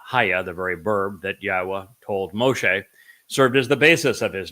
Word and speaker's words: Yahowah: the W and haa the very verb that yahwah told Moshe served as the B of his